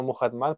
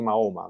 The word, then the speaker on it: Muhammad: Me gusta más emplear el término Muhammad para ser más respetuoso con los islámicos, más que Mahoma, Muhammad, porque así lo pronuncian los teólogos musulmanes.